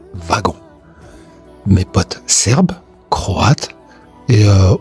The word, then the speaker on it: wagon: Le mot wagon s'écrit avec un W et pourtant se prononce V de wagon.